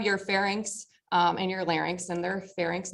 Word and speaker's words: larynx: Parts you have your FX um and your larynx and they're FX not ferx larynx not Linex I don't even know what the LX is